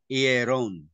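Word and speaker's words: ἱερόν: Yung ayota niya, mayroong rough breathing. Ipon. Peron. Sorry. Ayan. Hieron. Hieron. Mayroong H sound.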